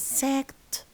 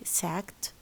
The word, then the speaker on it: sacked: Larry's dad is sacked. Look at the T of sack. Is he sacked? Because ka is a voiceless consonant, so the ed is pronounced as ta.